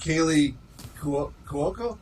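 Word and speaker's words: Kaley Cuoco: I still think Kaylee Cuoco, is that how you say it?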